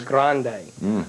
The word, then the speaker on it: Grande: or the spelling of grand with an E well it's the whole Spanish Mediterranean type Flair and the correct pronunciation is Grande uh but uh but